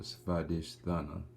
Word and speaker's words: Svadhishthana: And today we're gonna be talking about the second chakra, the sex chakra, the Svadhishthana chakra. That's how you say it in Hindu.